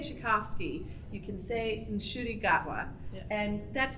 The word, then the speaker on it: Gatwa: if you can say chovsky you can sayi gatwa and that's correct you can you can do